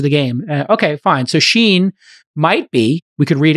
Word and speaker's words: Shein: know it's very interesting their name is spelled s-h-e-i-n uh and so it's Sheen not shine but it is easy to mix up yeah Sheen like Charlie yes exactly we love you